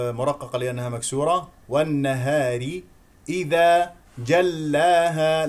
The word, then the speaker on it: جلاها: لانها مكسوره والنهار اذا جلاها لا تمسك اللام لانها مشدده تقول جلاها هذا خطا جلاها لا تقول جلاها لا تستميل ل الالف واضح واضح واضح جلاها